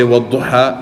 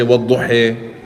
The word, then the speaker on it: وَالضُّحَى: So some people say وَالضُّحَى and some people say وَالضُّحِي, right?